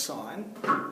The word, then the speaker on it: sin: a specific ratio so for the sign ratio we write it as sin but actually it's still pronounced sign and so I just